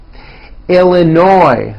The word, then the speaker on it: Illinois: Florida Georgia Hawaii Idaho Illinois the final s is silent Indiana Iowa Kansas Kentucky